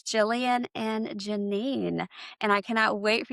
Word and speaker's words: Ginine: My name is Janine. My mom wanted to be different. It's just Janine, but she wanted to spell it the French way and we are not from France, but I love it.